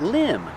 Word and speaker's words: limb: tree limb that's right limb the V is silent one tree limb and